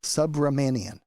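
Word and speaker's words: Subramanian: Sub Romanian. Sub Romanian said that he should serve no more.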